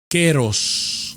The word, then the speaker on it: kairos: pero llegó el tiempo queros se escribe kairos y por años lo habíamos dicho Cairo pero cuando vamos al griego se pronuncia queros ese keros que por